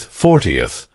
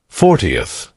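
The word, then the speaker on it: fortieth: The stress is on the second syllable, 14th. Compare this with 40th. 40th.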